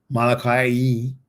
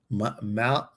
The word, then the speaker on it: Molokai: I just talked about you and I said how beautiful it was and how special it was to go to Molokai. Molokai.